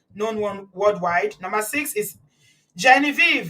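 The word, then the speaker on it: Genevieve: Number six is Genevie. Jean Viv, that's how they say it in in French.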